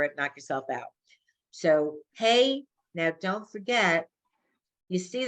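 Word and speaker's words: ה: And the letter here is hey, not hey. Hey like as horses.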